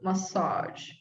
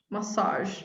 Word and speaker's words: massage: a sequence version measure massage massage oh this one is difficult massage good this is the same one as a genre the same one oops